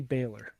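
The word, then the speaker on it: Bálor: that super cut and next to how you pronounce oscar and finn balor baylor finn haye baylor yes anyways something weird happened on youtube right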